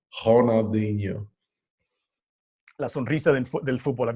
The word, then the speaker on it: Ronaldinho: You can't pronounce the R because it's in Brazil. You got to have some swag to his name. Ronaldinho.